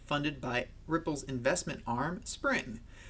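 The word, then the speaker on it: Xpring: by ripples investment arm spring spring spelled with an X got to love it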